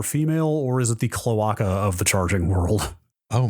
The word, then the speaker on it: cloaca: Cloaca is, I think, how you say that one. Is that how you say it? Yeah, I'm not sure. Oh, you're right. Yeah, cloaca.